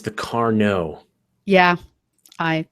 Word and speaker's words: Carnot: Elena Everyone says, if it's like the mathematician, it's the Carnot.